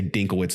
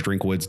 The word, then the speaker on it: Drinkwitz: Missouri the fighting Eli I always say dinkle witz they've butchered his name so many times here I know it's drinkwitz Dink witz it's he